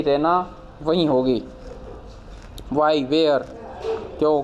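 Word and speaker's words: Raina: रना चिल्लाती है रना सी pronounce it रना with stress on the double E वो उसको प्रोनाउंस ऐसे करती है रना मतलब डबल ई पर वो स्ट्रेस डालती है शी गोज टू द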